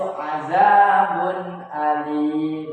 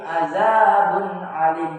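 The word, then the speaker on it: 'adhabun alim: Nah, cara membacanya juga sama, yaitu jelas, yaitu azabun alim. Jadi bukan azabun, bukan, tapi azabun alim. Jadi tanwinnya ini jelas, domatanya ini jelas, azabun alim.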